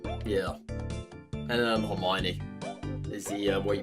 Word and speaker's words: Hermione: And um Hermione is the way you pronounce that, dude.